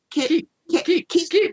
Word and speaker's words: Keap: And it's spelled KEAP because you can keep everything all in one place. So that's how you can remember keep.